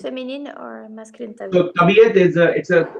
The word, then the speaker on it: तबीयत: So tabiyat it's a correct one.